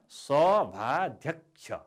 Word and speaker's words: सभाध्यक्ष: सभाध्यक्ष, यसको उच्चारण सभाध्यक्ष। सभाध्यक्ष, क्षको उच्चारण हामी गर्दैनौँ, हामी क्षलाई क्ष भनेर उच्चारण गर्छौँ। त्यस कारणले सभाध्यक्ष भन्दा कको पनि उच्चारण भएको छ, सभाध्यक्ष। यसरी 4 अक्षरले बनेको शब्द हो। यसको शुद्ध उच्चारण सभाध्यक्ष।